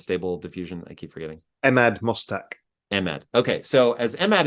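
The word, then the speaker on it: Emad Mostaque: efficiency to um please remind me how to pronounce the gentleman's name that runs stable diffusion I keep forgetting Ahmad mustak Ahmed okay so as emad is saying is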